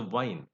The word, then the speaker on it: wine: between these two sounds actually when you use W you have to use the rounded lips I'll give you the example with the wine you know there are